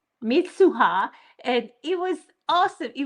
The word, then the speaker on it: Mitsuha: I love the names Taki and Mitsua. Is that how you say it? I think Mitsuha. Mitsuha.